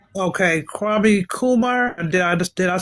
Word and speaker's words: Kwame Nkrumah: The reason why I can't pronounce his name. What's his name again? Kwame Nkrumah. Okay, Kwame Kumar.